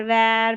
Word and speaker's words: war: चलिए नंबर 60 जो लास्ट है, टोटल 60 की बात की थी, 60 पैटर्न बताऊंगी, तो यहाँ पर WAR है, देखिए इसको वॉर पढ़ेंगे, नहीं तो W और A साथ में रहता है, इसको वॉ करके पढ़ देते हैं।